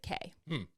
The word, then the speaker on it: Cay: an island that is spelled c-a-y and they pronounce it K maybe they that's why